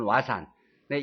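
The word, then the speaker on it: 和算: 후세에 발달한 일본의 수학 화산 일본식 발음 부르는 와산의 입문서가 되었습니다.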